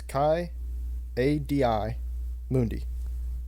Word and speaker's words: Ki-Adi-Mundi: this one it's blue and ki-adi-mundi it's kind of mundi but okay thank you what's that ID for or do you just kinda Mundi yeah it's Chi Adi Mundi That's not me spell it anyway you just don't pronounce it like